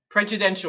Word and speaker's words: Prejudential: The publisher and I made up the word, so I suppose you can pronounce it any way you want, but we're saying prejudential.